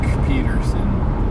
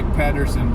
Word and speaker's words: Pedersen: Or is it Doc Peterson? And it's spelled with a D, like Pedersen. I would say Pedersen, but they called him Peterson.